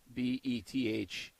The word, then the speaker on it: Bethesda: maxing out but like bethesda bethesda i think it is how you spell that b-e-t-h-e-s-d-a there's no z no but it's kind of bethesda you know like there's instead of this duh oh i think okay